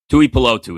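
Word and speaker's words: Tuipulotu: Touotu is how you say it.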